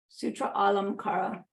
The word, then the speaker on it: Sutralamkara: uh teaching called the sutralamkara I didn't write it down I guess it should foreign it's a long a here because it's two A's in a row Sutra Alam Kara uh this is a